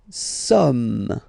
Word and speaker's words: sommes: Nous sommes. Okay, nous sommes. Okay, so you don't pronounce the final S here, it doesn't exist.